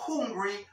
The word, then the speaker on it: hungry: is not hungry no hungry recuerda como una J suave h y la u como hungry She's not hungry ella